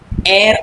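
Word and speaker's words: heir: द एयर apparent इसको क्या उच्चारण करते हैं इसका?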